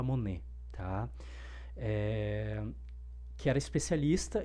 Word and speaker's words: Money: Acho que se escreve Money como se fosse tinheiro, mas eu acho que, se eu não me engano, se fala Monê, tá?